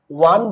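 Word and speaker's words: one: তো একমাত্র ওয়ান বললেই আমাদের শুরুতে কিন্তু ওয়ার মতো উচ্চারণ হয়, আর অন্য কোথাও কিন্তু আমাদের উচ্চারণ কিন্তু হয় না।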